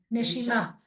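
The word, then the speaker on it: נשימה: Neshima.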